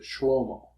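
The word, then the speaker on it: שלמה: In Hebrew, you would pronounce it shlomo.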